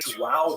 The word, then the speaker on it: João: And he rose up in the ranks until finally King John III, who actually, I'm going to pronounce it, João III, and to give thanks